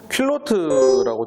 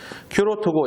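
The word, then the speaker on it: culotte: 사실은 이거는 퀼로트라고 부르는 게 아니라 큐로트라고 부릅니다. 영어로는. 영어 발음으로는 큐로트가 맞아요. 큐로트고, 이거는 인터넷에 스키포키라고 치면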